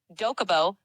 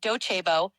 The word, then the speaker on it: Docebo: The platforms I mentioned are Coursera for Business, Dokubo, pronounced Docebo, EdApp.